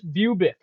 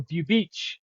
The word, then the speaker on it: Bubic: Chris Bubik or Bubich. We're gonna go with the old school Europeans, pronunciation.